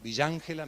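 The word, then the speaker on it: Villa Ángela: Bueno, felices de estar en Villángela, me dijeron decir Villángela, así se pronuncia, claro.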